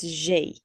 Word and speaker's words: j'ai: Now with this, just to recast a little bit, I remember Kenzie just asked how to say the first bit. It's j'ai.